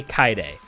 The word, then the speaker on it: Kaede: name is kaide and they say kai day that's how you pronounce that name you're not allowed to